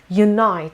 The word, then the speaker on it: unite: feeble number eight unite unite the stress is on the second syllable and means to come